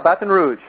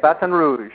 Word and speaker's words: Baton Rouge: Did I pronounce that right? Yeah, Baton Rouge. Baton Rouge? That's how they say it, Baton Rouge.